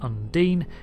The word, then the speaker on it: Undine: quick video to clarify some things yes it's pronounced Undine it's just a habit I'm going to have